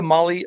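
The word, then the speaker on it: Mahle: podcast listeners Molly Motorsports Molly is spelled m ahle and I want to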